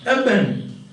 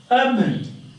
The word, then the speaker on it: urban: Urban. Urban. Urban. And that is urban. Urban. So N becomes M.